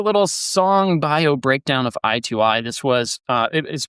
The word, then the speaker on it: I2I: gave you a little song bio breakdown of I2I. This was uh it is pronounced I2 I E T O E Y E.